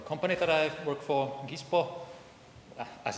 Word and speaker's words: Gispo: Okay, so just a few words first about the company that I work for, Gispo, as it's pronounced in Finnish, but yeah, so we are like about 10 years old.